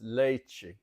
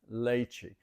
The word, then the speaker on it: leite: So if we have milk, the word for milk in Portuguese is leite, leite. It's pronounced almost just like Spanish.